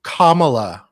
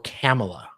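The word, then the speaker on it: Kamala: of like George and he he said it could be pronounced way or kamla or camela sorry I don't want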